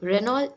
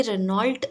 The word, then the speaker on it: Renault: सो रेनॉल्ट इज़ a French automobile company. ये एक France में इसका हेडक्वार्टर है। ये एक फ्रेंच कंपनी है, इसलिए इसका प्रोनाउंसिएशन भी रेनॉल्ट नहीं है, इसका प्रोनाउंसिएशन रेनॉ है।